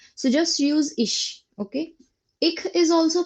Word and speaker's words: ich: Now, basically, ish pronunciation is ik also, but it's just a dialect. So just use ish, okay?